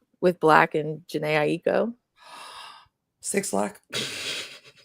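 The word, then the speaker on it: 6LACK: 6 Lack. Not Black.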